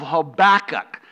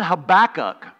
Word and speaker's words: Habakkuk: background and some context the prophet habakkuk or habakkuk I've heard it pronounced that way they were wrong habakkuk is right that's the way that's the way I'm gonna pronounce it he prophesied during the